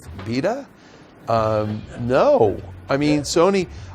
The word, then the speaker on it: Vita: do you guys remember the V rhymes with wife VA um no I mean